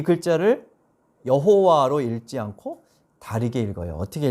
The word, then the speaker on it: 여호와: 성경에 보면 여호와라고 기록되어 있지만 정확하진 않고 아도나이라는 그 글자에서 이제 모음을 따서 이 글자에 붙여서 발음을 비슷하게 한 것이 여호와라고 이야기를 합니다.